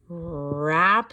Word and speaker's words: wrap: Before we open them, we wrap them, and that bossy R takes control and takes away the power from the W. All right, and so it says the sound, and there's no W sound.